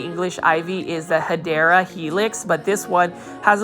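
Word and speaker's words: Hedera helix: correct way to say English ivy is the hadera Helix but this one has a little bit smaller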